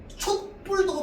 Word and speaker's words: 촛불: 자, 근데 만약에 사이시옷이 없었다 하더라도 그러면 뿔로 발음돼요. 뿔로 발음됩니다. 왜? 나만도 촛불이라고 발음할 거기 때문에. 자, 그래서 촛불도 맞는 발음이고요. 촛불도 맞는 발음이 되는 거야. 알겠어요? 두 개 다 맞는 발음입니다.